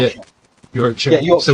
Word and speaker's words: Yorkshire: Yorkshire. Yeah, Yorkshire. So we would say Yorkshire. Yeah. It's a sort of standard British. You share. Particularly in the southwest, it's shire.